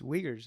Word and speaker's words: Uyghurs: How do you actually pronounce this? It's Uyghurs.